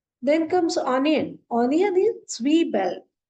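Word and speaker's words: Zwiebel: comes onion onion is s Bell s Bell because Z is pronounced as when we combine T and S together it is just like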